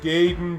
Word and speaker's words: Gaiden: gaiden kind of vibe it's pronounced gayden james however though and